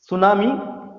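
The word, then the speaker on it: tsunami: सुनामी, यहां T silent रहेगा। सुनामी एक जापानीज वर्ड है।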